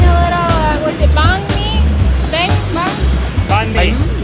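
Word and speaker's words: mì: we're getting a little, what's it, banh mi? Banh? Banh mi. Me.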